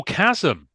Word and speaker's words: Chasm: past the name Lads I'm sorry how you spell that c hm oh Chasm Chasm yep okay that's that's better because jasm